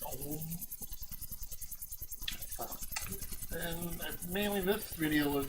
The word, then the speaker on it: Ogham: Again, pronounced Ogham, the G is silent. It's not Ogham. I called it Ogham for quite a while, but yeah, it's Ogham.